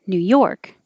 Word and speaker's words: New York: casually oh that sucks if it's number 11 the stress is on york new york if it's number 12